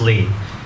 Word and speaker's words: Ly: Ly is Lee, it's French. And so that's the reason why I write Ly, just like many of you, right? People forget that. It's pronounced Lee.